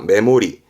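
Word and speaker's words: 目盛り: 거잖아요 그죠 이때 담을 때는 동사가 모르죠 그래서 발음은 3번의 메모리입니다 메모리 뜻은 뭘까 그렇죠 예를 들어 저울이 있다 그죠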